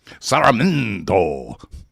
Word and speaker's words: Sarmiento: Master of ceremony is Esteban Sarmiento, and you need to pronounce his name that way when you see him. Sarmiento.